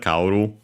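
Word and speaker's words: 香る: Unaccented, kaoru. One verb, so we can change the U into E to make the continuative form, and so the corresponding noun, kaori, unaccented still, so luckily following the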